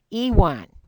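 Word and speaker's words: yuan: Japanese Etc but it's pronounced the yua is pronounced Ewan okay and that is their currency that is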